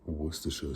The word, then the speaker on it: Worcestershire: minced anchovies, or a dash of Worcestershire sauce. I imagine I'm the only person you've ever heard in your life to correctly pronounce that.